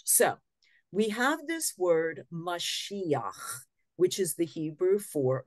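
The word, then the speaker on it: מָשִׁיחַ: we have this word mashiach which is the Hebrew for messiah messiah is like the greeked way of pronouncing this word I guess they didn't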